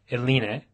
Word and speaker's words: Eline: Today we're here with Eline. Is that right? Did I pronounce That's that right?